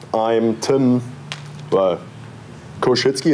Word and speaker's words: Koschuetzki: Well, Koshitzky. It's actually not that bad to pronounce.